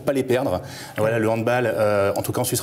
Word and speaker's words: handball: Le handball, on prononce bien handball, hein, parce que c'est un sport d'origine alémanique et allemand.